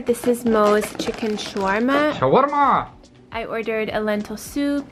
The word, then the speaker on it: shawarma: Shawarma! I ordered a lentil soup, hummus. Wait, wait, wait. Can I just say how they say it in Arabic? They say chicken shawarma. Shawarma.